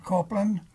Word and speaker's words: Copeland: to have you say your name and then spell it also yes I am copelan copelan h a r o l